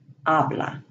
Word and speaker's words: habla: The H is always silent, such as hola, hija, habla.